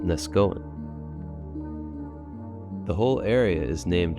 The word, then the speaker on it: Neskowin: slab Creek to nesen the original pronunciation was nesan but like many Native names and other things in this country it was dumbed down and most people today say nesg Goan speaking of dumbed down